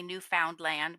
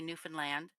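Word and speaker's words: Newfoundland: like we don't say New Found land we say New Finland it's very truncated like Toronto um Quebec yeah I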